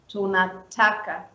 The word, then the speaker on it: tunataka: So for example, we have the word tunataka. I was writing it down. Tuna stays lower, and then the pronunciation is on ta, and then it goes down again, ka. Tunataka.